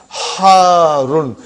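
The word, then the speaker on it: حارٌّ: Harun. Because the shadda is on ra. So you got to pronounce it properly.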